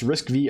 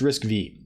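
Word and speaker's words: RISC-V: driving arm I wonder did we establish it's pronounced risk V I think it's pronounced risk V and arm I wonder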